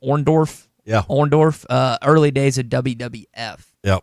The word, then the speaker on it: Orndorff: Orndorff, early days of WWF.